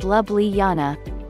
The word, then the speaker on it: Ljubljana: Ljubljana is pronounced Lubliana.